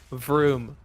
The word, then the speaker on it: vroom: look out for and the pronunciation for vroom just says vroom like the sound cars make I love room what